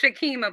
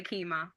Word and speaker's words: Shakima: It's Shakima, but you can say Kima.